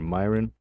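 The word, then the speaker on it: Miran: that's obviously due to Steven Moran or Myron as people are now calling him uh which I didn't know how to pronounce before.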